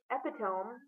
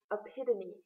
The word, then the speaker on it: epitome: Instead of the cousin of where the saints play, epitome, it is epitome.